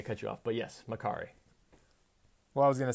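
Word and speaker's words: Makkari: lot the same with makari is it that's he pronounced it makari yes the speedster she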